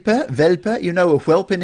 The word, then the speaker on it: Welpe: Welpe, you know a whelp in English?